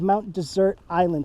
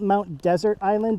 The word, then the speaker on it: Mount Desert Island: the south side of Mount desert island today and I know it's spelled Mount desert island but locals call it